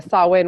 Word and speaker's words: Samhain: know how those languages deceive us but the saw Wayne was the Celtic celebration at the end of